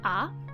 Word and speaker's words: 上: word means to raise the first kanji is pronounced ah and the second and third characters of the